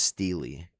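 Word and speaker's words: stele: I looked it up online and it said in English it was pronounced steely, but I never hear people say it like that.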